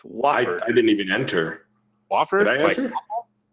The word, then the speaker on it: Wofford: think it's because you're pronouncing it Wooford. It's Wofford.